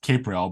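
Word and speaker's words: Capreol: everybody gets it wrong it is pronounced capral but most people get it wrong so it's not a big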